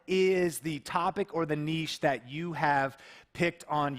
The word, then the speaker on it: niche: And you know, niche is actually how you say it. But here in America, we say niche. If If you've ever heard marketers say the riches are in the niches, you know, it kind of rhymes.